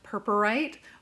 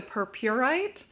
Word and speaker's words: purpurite: a beautiful shimmery stone there are a couple of ways i've heard this pronounced of course purpurite but also purpurite whichever one that you prefer i have heard them both and this gorgeous gemstone um